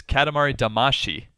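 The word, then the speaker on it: Katamari Damacy: damasi that is close the way it's said in in Japanese at least is Katamari damashi oh D actually yeah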